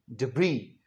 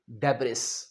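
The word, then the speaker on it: debris: सो हमने सीखा मलबे की इंग्लिश डिब्री ना के डेबिस।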